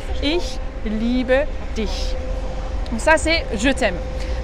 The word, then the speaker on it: ich liebe dich: C'est pas « ich liebe dich ». Ça, si dans certains dialectes, par exemple, dialecte à Berlin ou certains turcs allemands prononcent un peu comme ça, ich liebe dich, mais en allemand, si tu veux prononcer correctement, c'est ich liebe dich.